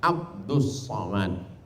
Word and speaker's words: Abdul Somad: Tulisannya Abdul Somad, tapi membacanya adalah Abdus Somad.